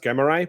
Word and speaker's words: Greymare: So you could call it Greymare. It's originally pronounced Gremmerai, but what is also commonly acknowledged from people who study the language is that both are completely acceptable.